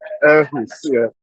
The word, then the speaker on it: Aarhus: It's pronounced Aarhus.